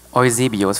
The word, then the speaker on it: Eusebius: Eusebius.